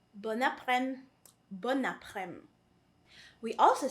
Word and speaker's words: bon après-midi: But precisely because it is followed by a vowel, we say bon après-midi. So there's a liaison right there.